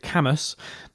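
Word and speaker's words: Cambois: of an unusual word cambras c-a-m-b-o-i-s but you pronounce it camas um in northumberland so it's the the power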